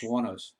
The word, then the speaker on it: Wuornos: Wuornos.